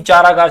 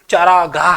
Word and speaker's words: चारागाह: बोलते हैं और यही चरागार से हमारी क्या हो जाती है भाई चारा और यही हमारी क्या हो जाती है अशुद्धि हो जाती है शुद्ध शब्द चारागाह है अशुद्ध शब्द चारा